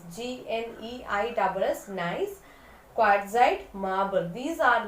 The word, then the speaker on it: gneiss: It is pronounced as gneiss, G-N-E-I-S-S, gneiss, quartzite, marble.